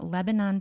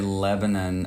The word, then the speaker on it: Lebanon: She did say Lebanon a little bit wrong. Did I say it wrong? Did I? Because there's a little Tennessee run you gotta have with it. It's okay. Lebanon.